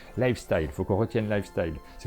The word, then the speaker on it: Lifestyle: la gamme lifestyle board game c'est ça bien prononcer merci mais on avait tendance à dire life still life style faut qu'on retienne lifestyle c'est comme ça qu'il